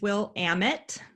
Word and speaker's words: Willamette: with a little pronunciation it is will amit that very flat a um so willamette university